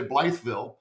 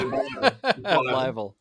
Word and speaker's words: Blytheville: We say it right. We don't say Blytheville. No, Blytheville.